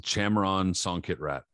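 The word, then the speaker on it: Chamrern Songkitrat: the fight on references um is against um pronounce his name for me bro because you're not bad at this chamron songkit rat there we go jamron songkick rat and fight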